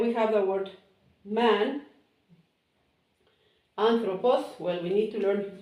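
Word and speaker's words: ἄνθρωπος: Anthropos, and it has this intonation, so you put the intonation on the first syllable.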